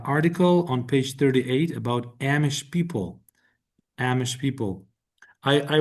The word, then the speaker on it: Amish: pronounce correct pronunciation is Amish. Amish. Like the A has a long a long vowel sound. Like you pronounce it like the name of the letter A, but I could be wrong about that.